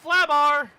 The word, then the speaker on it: Flabar: And here comes Flabar. Pronounced like Babar.